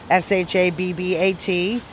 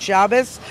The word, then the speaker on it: Shabbat: S-H-A-B-B-A-T. Shabbat. So is that like Sabbath? Yeah, Sabbath, exactly. Where you come from is what you call it. Good Shabbos or good Shabbat.